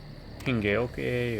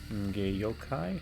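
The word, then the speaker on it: Hengeyokai: Whether they're Hingeoke or Hingeyokai. I think that's probably the more correct pronunciation.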